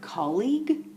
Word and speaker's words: colleague: you have a lot of difficulty trying to pronounce the word colleague there are two things you can do you